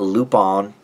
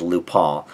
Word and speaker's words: Lupin: But I believe it should be, because it's French, I believe it should be pronounced Lupin.